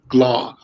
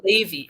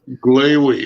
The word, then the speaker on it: Glavy: Pleased to have Glaw. How do you pronounce it? You were on the right track. It's Glavy, Rhymes with Gravy. Glavy.